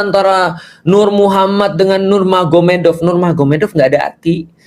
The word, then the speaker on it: Magomed: Jadi tulisnya Magomet tapi bacanya Mahomed kan gitu kan ya.